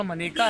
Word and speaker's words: मनेका: पिछले 2 लोकसभा चुनाव से 2014 और 2019 से, बल्कि 2009 में भी आंवला से मनेका गांधी जीती थी। सही उच्चारण मनेका है, अक्सर लोग मेनका बोल देते हैं।